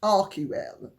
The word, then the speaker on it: Archewell: that Meghan and Harry, through Archewell or Archewell or however it is pronounced, or however they pronounce it, it's properly pronounced Archewell.